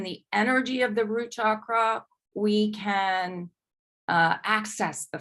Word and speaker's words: chakra: connected to the root chakra and again um it's not we're not um um it's actually pronounced Shakra okay thank you um